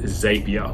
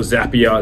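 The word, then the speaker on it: Zapier: is a tool called Xavier or zap er depending on how you want to pronounce it now what that does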